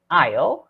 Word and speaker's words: aisle: a little bit weird it's spelled a-i-s-l-e and it's pronounced Isle but it simply is